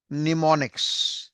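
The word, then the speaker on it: mnemonics: यहां पे एम नाम का शब्द जो है वो साइलेंट है। और हम कैसे पढ़ेंगे? एन ई एम ओ एन आई सी S. That is known as निमोनिक्स।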